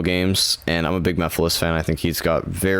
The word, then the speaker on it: Mephiles: Like I know one was Mephiles, which is properly pronounced Mephiles, but in the presentation, I don't know why, but they pronounced it Mephiles. Like they really emphasized the Phyllis, and that like rubbed the whole, like Twitter kept posting Mephiles, like Milady, but Mephiles.